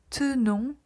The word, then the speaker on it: tenons: Puis, pour nous et vous, on va avoir le E qui est silencieux, nous tenons, vous tenez.